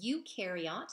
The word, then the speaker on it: eukaryote: different categories because of that okay so a eukaryote and that's how you pronounce that e-u-k-a-r-y-o-t-e-s and again our eukaryotes are